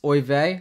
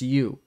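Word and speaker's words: Euwe: him absolutely dismantling Max o I thought it was Max U but apparently it's Max o trying to be respectful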